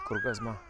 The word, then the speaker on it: Кургазма: Наверное, мне скорее ударение нужно ставить на последний слог, поэтому пусть будет Кургазма. Вот он, экспоцентр.